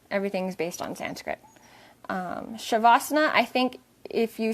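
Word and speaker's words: savasana: you can do s there's no h you just make the s sounds like an h so it's s a v a n sha or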